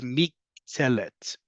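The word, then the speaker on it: מִקְטֶלֶת: In this case, the mishkal that's used to create a new word, in this case a noun, is miktelet. Miktelet. I-e-et.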